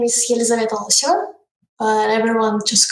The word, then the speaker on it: Loseva: Hi, it's Loseva. Loseva.